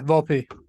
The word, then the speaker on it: Volpe: Yeah, Volpe.